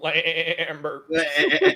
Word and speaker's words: Lambert: Adam, it's pronounced Christopher Lambert.